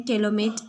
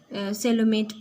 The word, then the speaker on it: coelomate: कहीं जगह इसको प्रोनाउंस करते हैं केलोमेट एनिमल. ओके, कोलोमेट एनिमल भी इसको प्रोनाउंस करते हैं किसी मतलब कोई भी स्टेट में अगर. ओके, लाइक केरला में सेलोमेट प्रोनाउंस करते हैं. साउथ नॉर्थ में मैंने देखा इसको कोलोमेट. Okay, कोलोमेट animal. इसको प्रोनाउंसिएशन थोड़ा अलग है बट डोंट बॉदर डैट,